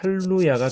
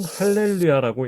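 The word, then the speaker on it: הללויה: 이렇게 쓴다는 것이죠 자 그런데 지금 제가 말씀드린이 방식대로 읽으면 할로야가 됩니다 뭔가 다르죠 그것은 왜 그러냐 하면 여기에서 음절을 나누고 이것을 무성으로 처리했기 때문인데요 이것은 우리가 지금까지 배웠던 이론만 가지고 했을 때의 경우가 되는 것이고 실제로는 할렐루야라고 읽는 것이 맞습니다 여기에서 이것을 유성 쉐바로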